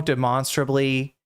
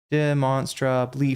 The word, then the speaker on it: demonstrably: Does he really not know demonstrabably? That's not a hard word. Destiny. Demonstraably demonstrably. Four four syllables. Okay. It's a four syllable word.